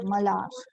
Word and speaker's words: Malhar: H is silent, so Malhar. It is Malar. Okay, H silence, Malhar.